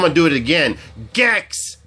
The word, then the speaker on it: Gex: Gex, not Jex.